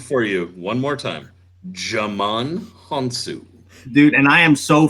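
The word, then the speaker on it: Djimon Hounsou: Hey, He's the D is silent.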